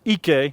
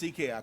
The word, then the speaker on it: Ike: Rotimi, one of the Nigerian players who competed this season, Ike Diagu, or Ike, I guess is the way they pronounce it in Nigeria. It's Ike.